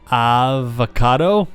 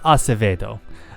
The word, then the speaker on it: Acevedo: Avocado? Dr. Avocado? I get that a lot. It's pronounced Acevedo.